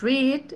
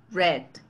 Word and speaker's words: read: En el primero es read y en el segundo read. Exacto. Es más como cortado. Read, read. Red hair, ¿no? Pelo rojo. Read a book. Es decir, aunque las dos se escriben igual, no se pronuncian igual, ¿no?